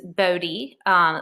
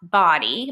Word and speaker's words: Bodie: And you have, again, I called it, it's Bodie, is how it looks, but it's pronounced Body Island Lighthouse.